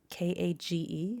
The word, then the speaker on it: Kage: with named Kage, and it's spelled actually Kage, like almost like cage, but it's pronounced Kage, and there's a reason for that.